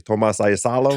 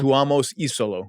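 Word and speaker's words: Tuomas Iisalo: I think, say his name properly, Tomas Isolo. Tuomas Isolo. See that? Tuomas. It's tricky.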